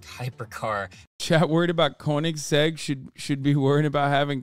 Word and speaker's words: Koenigsegg: newer and they're explosive why'd you say koenigs felt cake w am I saying it wrong is that why you got well not koenigs spelled Koenigsegg oh okay whatever suck my dick I don't know cars like that it's Koenigsegg ah shut up nerds